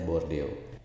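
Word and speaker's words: bordeel: Kemungkinan dari kata bordeo Belanda ditulisnya bordel dengan double e tapi dibacanya bordeo.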